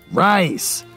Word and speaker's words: Reisz: do you pronounce rice answer rice like the food uh where do you